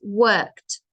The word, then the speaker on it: worked: that's how it sounds worked you do not pronounce the E and it's we call